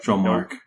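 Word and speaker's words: Dromarch: I'm never quite sure how to pronounce his Dromark? name. Dromark? Dromark. Dromark, okay. Drotaro. It's just that my French mind see this and tries to say it in French.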